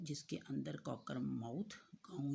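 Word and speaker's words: Cockermouth: कॉकर माउथ, COC के Kock, ERR, MOUTH माउथ, कॉकर माउथ।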